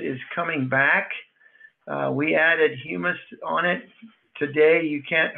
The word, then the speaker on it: humus: How humus solutions work. Spelled, pronounced humus, not hummus.